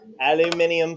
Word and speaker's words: aluminium: Yes, aluminium foil. Yes. Okay. So I'll just use. Aluminium. That's how they say it across the pond.